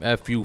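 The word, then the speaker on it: Effyoo: A lot of yes, people type it's E-F-F-Y-O-O. That's how you spell my name. F-U, phonetically spell that out.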